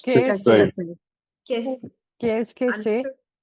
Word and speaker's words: Qu'est-ce que c'est: How do we pronounce it? Qu'est-ce que c'est? Qu'est-ce que c'est?